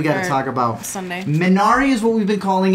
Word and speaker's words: Minari: Minari is what we've been calling it. Minari is how it's pronounced.